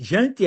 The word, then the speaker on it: Jante: Jante, a pronúncia é sempre horrível, tá? Vamos lá, lei de Jante. E antes, porque porque é com J, né? É, daí o J tem som de I.